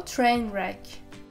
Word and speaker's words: train wreck: him 3 weeks later train wreck notice that here W is silent so train wreck literally a train wreck